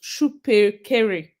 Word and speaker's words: Shupekere: Okay, it's pronounced Shupekere. Shupekere. Not HU, because I'm seeing at HU here.